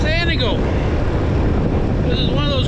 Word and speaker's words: Antigo: Today we're in the city town of Antigo? No, it's Antigo. This is one of those communities that people seem to always mispronounce somewhere along the way.